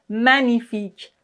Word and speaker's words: magnifique: G N I. En général dans ce caslà, on ne prononce pas le G comme par exemple magnifique.